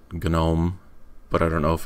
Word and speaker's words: GNOME: more fun anyways so this is gnome and you'll also hear pronounced genome or really get into that I don't care how you say it the developers call it genome but I don't know